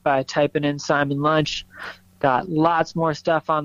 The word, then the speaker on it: Lunche: on Instagram at Simon lunch that's lunch with an e and pronounced just like lunchtime oh yeah and you're